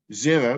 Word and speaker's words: Xero: in the accounting process xero which is spelled with an x is an excellent cloud-based